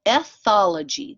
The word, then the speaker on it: ethology: So ethology, that's how you pronounce this word.